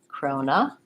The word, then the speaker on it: corona: blend Corona Corona and so the main difference here when I'm talking about corona virus is that I don't want to leave this syllable out I don't really want to call it corona virus because it sounds different I need a syllable there although your observation is